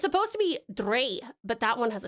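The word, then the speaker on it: drei: Dre is German for 3. It is pronounced like dry.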